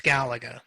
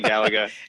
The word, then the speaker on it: Galaga: yeah no it's definitely galaga yeah it's definitely galaga that was a great game too you know i mean because there's only one l there but i digress right